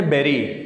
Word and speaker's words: bury: دفنانے کو انگریزی میں کہتے ہیں بیری. اس کو جو سپیلنگ ہے BURY، کچھ لوگ اس کو بری کہتے ہیں، یہ بری نہیں ہے، اصل میں ہے بیری.